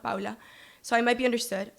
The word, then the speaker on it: Paula: in saying my name, pronouncing it wrong on purpose, Paula, not Paula, so I might be understood, I might be included.